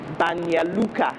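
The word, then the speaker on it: Banja Luka: you had to pronounce names like banya luca which was spelled banja luca and you know names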